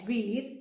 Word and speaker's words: Veer: Param means ultimate, Veer pronounced as Veer means brave, and Chakra means wheel in Sanskrit.